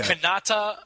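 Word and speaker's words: Kanata: canata you're not you're not do not just mispronouncing Canada you're talk okay canata Ontario Canada okay was suburb of Ottawa now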